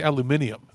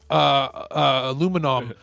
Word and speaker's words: aluminium: And when I say the right way, I don't mean she didn't say it like the way we say it. She also didn't say it like the British way. Like she didn't say aluminium.